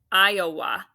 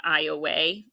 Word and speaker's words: Iowa: that's going to be that has a schwa this is an open syllable exception actually because that's making the schwa sound not I away although some people I believe say it that way so either way I'm